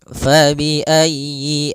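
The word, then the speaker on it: فَبِأَيِّ: Pada lafal fabiayyi ala di sini usahakan huruf ya-nya ditekan. Fabiayyi ala. Fabiayyi ayyi. Kemudian yinya pendek jangan dipanjang jangan a. Tapi langsung saja fabiayyi.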